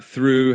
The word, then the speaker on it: through: Uh through has that same th sound at the beginning but ends with that ooh sound.